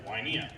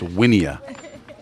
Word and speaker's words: Wynea: Now batting number 12, Colton Wynea. Oh, they did get that one wrong. Somebody needs to tell that guy. Who's going to tell him? It's Winia.